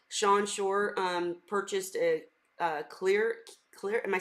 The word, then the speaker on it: Klir: But I wanted to say, Sean Shore purchased a clear.